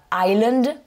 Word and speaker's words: island: dire Ireland, on dit Island, là c'est l'île en anglais, qui s'écrit I-S-L-A-N-D, et on a ici une lettre muette qui est le S.